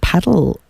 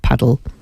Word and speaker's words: padel: um any coaches of paddle I think it's just called paddle isn't it I think it's just padle padel it's spelled padel but anyway um yes